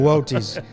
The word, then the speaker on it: Boötes: It's the largest void we have ever found in space, the Boötes void. We had to look up how to pronounce it before Yeah, the show. Boötes.